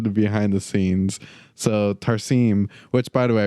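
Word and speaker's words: Tarsem: out looking into the behind the scenes so tarim which by the way I realized I was pronouncing the director's first name incorrectly his name is pronounced tarim um he realized uh he revealed to the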